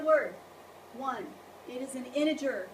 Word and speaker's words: integer: one it is an integer not an inter that sounds as bad as it looks when you say it so how to pronounce it iner that's a j not a g don't call them integers